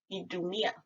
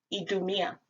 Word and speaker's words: Idumea: In Latin, it is pronounced Idumea. Idumea. Keep that in mind because we'll get to that in the Ewe meaning.